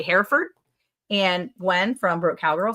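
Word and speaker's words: Hereford: Yeah, I say herford. That's the way most people say it. Shamro Farm. That's the way most people say it here in Texas. It's herford. Herford.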